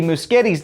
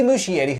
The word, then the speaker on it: Muschietti: flash panel i learned i've been saying andy muschetti's name wrong for years flash director andy muschietti andy muschetti i also learned about the speed